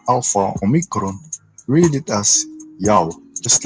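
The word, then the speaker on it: Ιαω: the divider was written to make sure it's pronounced correctly as it should be, Yao. Moving on to another basis that his name is pronounced Yao, is when one of the greatest historians named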